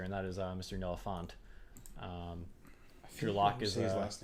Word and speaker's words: Fant: Noah Fant. Your lock is his last name wrong. Fant. Fanta. However, you want to you say it very pretentiously, like yes, Noah Fant. Mr. Font.